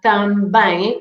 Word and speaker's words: também: So the M at the end is never pronounced as an N or an M, but is just to make the nasal sound of the vowel.